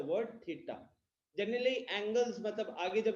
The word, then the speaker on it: theta: तो वो थीटा जो है, सबसे पहले जो थीटा वर्ड है, थीटा इज, ये जो सिंबल है इसको हम प्रोनाउंस करते हैं थीटा बोल के.